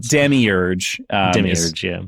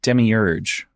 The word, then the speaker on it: demiurge: But okay, most of the pronunciation that I've read everywhere says demiurge like I'm saying like yeah I that is how it's pronounced in the audio book is demiurge right?